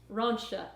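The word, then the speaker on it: Rentia: love your videos oh i looked up how to pronounce your name before i got on here rauncha i think i think that that's actually the correct pronunciation it's spelled r-e-n-t-i-a so um which is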